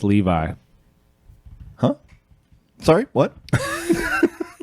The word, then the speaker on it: Levi: So I made the peasants levy, and then I finished a walker for that world as well. I believe it's pronounced Levi.